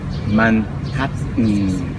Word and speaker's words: Manhattan: You know, most Japanese will pronounce this Manhattan. Maybe like Cambodians, huh? Same thing. Before maybe you would have read it Manhattan, something like that.